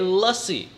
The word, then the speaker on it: lassi: It is not difficult to say lassie.